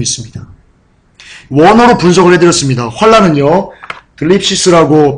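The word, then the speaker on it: θλῖψις: 환난은요, 들립시스라고 발음하고요, 뜻은 억압, 압박, 고통, 괴로움, 고난, 이런 뜻을 갖고 있습니다.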